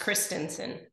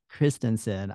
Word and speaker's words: Christensen: Did I I'm pronounce well, did I pronounce your last name correctly? not totally correctly, but Can you almost correctly. can you correct me? Yeah, it's Christensen. Christensen.